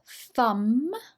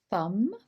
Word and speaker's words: thumb: let's look at pronunciation thumb so you'll notice here that the b is silent thumb index finger which is